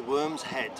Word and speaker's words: Worm's Head: The say again the name, the pronunciation? It's the Worm's Head.